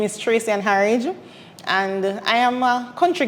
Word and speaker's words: Harriage: My name is Tracey-Ann Harriage.